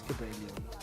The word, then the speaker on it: Cobalion: It is Cobalion.